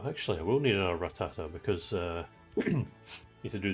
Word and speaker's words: Rattata: Trying desperately to force myself to say Rattata rather than Ratata cuz I've had it wrong all this time.